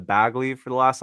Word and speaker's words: Bagley: to butcher them like I've been saying bagely instead of bagly for the last like